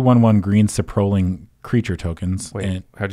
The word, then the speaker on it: Saprolling: Yeah, it's Sapperling.